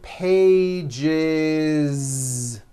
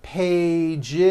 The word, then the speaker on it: pages: that voiced z two pages it's not two pages unvoiced no it's two pages with a voiced Z even though you spell the word like this in American English you